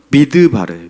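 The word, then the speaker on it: מדבר: 미드바르예요.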